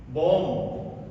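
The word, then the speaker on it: bomb: इसी तरह और देखिए बी ओ एम बी बम बम ये बम ब नहीं है।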